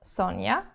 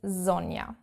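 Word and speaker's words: Sonja: again which is yeah not Sonia as I get called but Sonia in German proper correct German okay then the next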